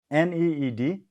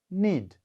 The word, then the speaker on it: need: For example, N-E-E-D, need. All of you pronounce it. N-E-E-D, need. All of you pronounce. Not need, need. All of you pronounce need.